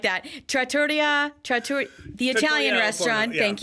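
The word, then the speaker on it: Trattoria: you're on the right path something like that Tratoria TR the Italian restaurant thank you at Epcot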